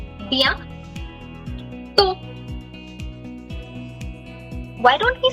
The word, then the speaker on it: bientôt: We don't say te in French, we say to. A. Bien. Gitika, perfect. Bien to.